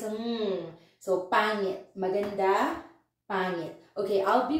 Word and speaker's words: pangit: first, pa, and then you need to produce the sound of ng, mm, and then int is it, ngit, pangit. I know for non-Filipinos you will say pangit, but you don't pronounce the g here because ng is one character, so it's a ng, so pangit, maganda, pangit.